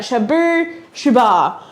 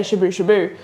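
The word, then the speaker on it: Shabooh Shoobah: 40 years of In Excess, I'm going to say it right, Shabu Shubar. I've been looking at the whole time, making sure I don't just say Shabu Shabu.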